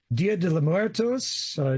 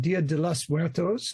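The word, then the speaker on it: Día de los Muertos: We have the days of Dia de los Muertos, Dia de los Muertos. Let me pronounce that more correctly.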